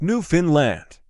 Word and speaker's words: Newfoundland: Newfoundland is pronounced Newfoundland.